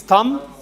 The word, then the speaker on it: thumb: In all these, B is silent. So it is thumb, num, womb, and comb. Comb.